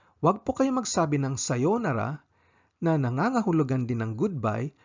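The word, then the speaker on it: さようなら: Kung matagal na hindi magkikita, sa pagbati ng goodbye ang sasabihin ay sayonara. Sayonara. Long vowel ang pagbigkas ng sayonara.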